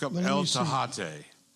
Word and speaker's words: Tejate: Tahate. It's spelled T-E-J. Tejate. It's like Tecate, right?